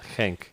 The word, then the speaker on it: Genk: People keep saying Genk, but it's Genk. It's Genk? It's a Belgian club. It's a Dutch. Belgian. Okay. Dutch sort of pronunciation.